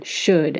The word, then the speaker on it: should: By the 16th century, the L was no longer pronounced in should and would, but it had firmly established itself in the spelling, so it stayed.